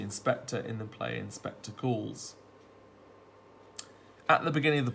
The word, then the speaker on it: Goole: Despite a different spelling, Goole is phonetically identical to Ghoul, which is a demon with a very particular purpose, to avenge the unjustified death of another.